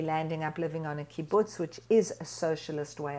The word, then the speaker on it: kibbutz: like living in the kibbutz apologies if i didn't pronounce that properly no you did kibbutz is exactly how it's pronounced you know it was